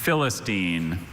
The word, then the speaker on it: Philistine: And it seems counterintuitive, but those one-syllable words sometimes are the toughest. Definitely. Howdy, James. Hi. Philistine, or Philistin, or Philistine, or Philistin.